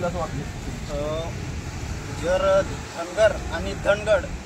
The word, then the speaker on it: धनगड: भारतीय राज्यघटना आहे आणि धनगड ज्याची स्पेलिंग DHANGAD अशी आहे, तर त्याचा हिंदी म्हणजे उच्चार धांगड होतो, परंतु जो धनगर समाज आहे तो धनगड असा उच्चार होत आहे।